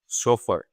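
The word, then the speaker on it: chauffeur: सोफर कैसे ये चोफर नहीं प्रोनाउंस होता है। सोफर होता है।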